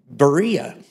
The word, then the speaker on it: Berea: we always swing by Berea that's how that's an anglicanized version and uh Pastor Mark and I he actually pronounced it probably more biblically yesterday varia is something like that when I preach in